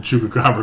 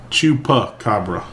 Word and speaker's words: chupacabra: Nobody has ever Googled Chuka Cabra cuz it's not even coming up. Well, you're spelled with an X. No, I've I've got a C. Chupa. Chupacabra. Not chuka.